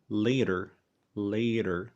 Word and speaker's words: later: لكن أهم حاجة تاخد بالك منها إن ده مش صوت حرف الدي، إحنا ما بنقولش later، إحنا بنقول later.